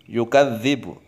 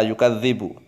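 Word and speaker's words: يُكَذِّبُ: lazy you Gazebo yukadzdzibu ini anak-anak modern biasanya yang ini yang salah yukadzibu Mengapa anak modern salah karena membacanya menggunakan tulisan latin kemudian akan terbaca yukadzibu pakai Zain salah yukadzibu salah yukadzibu juga salah pakai gym atau pakai salah harus pakai dengan lele terlalu terlalu dilatih dan Zal yukadzibu kau writer Nazi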